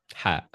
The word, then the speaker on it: ح: Number two is ha. Ha. Okay. Ha. It's not like the English the English letter H. No, it's Ha.